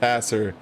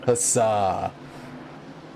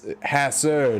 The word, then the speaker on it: Hasser: highlight is learning that dave's last name is pronounced hasser and not hassa god cue the harry potter memes it's it's hassor not hassa yeah if i don't